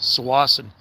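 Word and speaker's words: Tsawwassen: And from uh south of Vancouver, there's a ferry terminal uh and town called Swasan. And it's actually spelled with a ts. Sassan. It's a native name.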